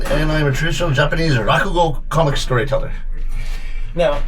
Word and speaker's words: Rakugo: Now, I'm going to mispronounce it, and I do apologize, but what is Ranaku exactly? Rakugo.